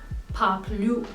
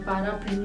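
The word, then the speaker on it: paraply: को कहा जाता है पाप ल्यू फाप लू यहां पे आपको आर को प्रोनाउंस नहीं करना है पारा फ्लू नहीं बोलना है डायरेक्टली पाप लू पाप लू एंड जो जमसूट होता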